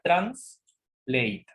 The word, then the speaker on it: translate: Sería translate. Translate. Translate. Acuérdate, translate. La A se pronuncia como una EI, entonces ¿cómo sería la correcta pronunciación? Translate.